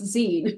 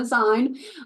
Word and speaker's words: zine: First of all, it's pronounced zine. It's not a zine, but really, like, who would care if you said it like zine?